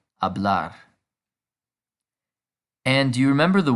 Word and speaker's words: hablar: and as we know the h is silent so to speak is now hablar and do you remember